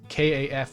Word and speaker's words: caf: calf by the way i'm not saying it the french way it's kaf with an apostrophe since you just got